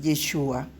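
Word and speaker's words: ישוע: acento en la a el nombre del masia es yeshua con acento en la u que significa él salvará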